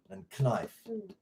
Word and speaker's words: knife: this but you know the silent k in like no and in knife well apparently in old english that was pronounced knife and then they just got lazy and threw it away but they kept the